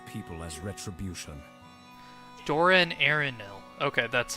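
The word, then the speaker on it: Dor-en-Ernil: Doran Arenil.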